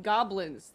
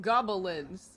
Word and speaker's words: goblins: There's only two syllables in goblins. There's not three syllables. How did he say it? Gobble Linds.